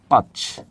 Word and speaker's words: পাঁচ: যেমন আমি একটা শব্দ লিখলাম পাচ। পা আর এটা যদি বলি তাহলে এটার উচ্চারণ কি হবে? পাচ পাচ পাচ পাঁচ পাঁচ এটা পাঁচ আর এটা হবে কি পাঁচ পাঁচ পাঁচ নাকে চলে যাবে কেন আনুনাসিক সে কিন্তু